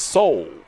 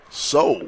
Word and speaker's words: Saul: spoke with his mother she told me that connect pun pronunciation of it is not so well it's soul soul yeah he's from uh